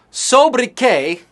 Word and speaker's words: sobriquet: what that was about so buddy K or sobriquet that's how we ignorant Americans say it it's just a fancy work that we borrowed from the French we're not giving it